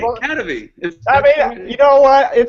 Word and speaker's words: Kadavy: Kadavy.